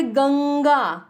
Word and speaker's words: गंगा: ंग है, तो इसलिए गंगा, ंग का उच्चारण आया।